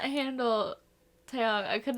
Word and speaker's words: Taeyang: and then you just have Taeyang or I always say his name wrong. Taeyang.